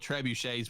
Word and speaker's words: trebuchet: I don't know how you pronounce it. It's those medieval rock throwing. Is it a trebuchet?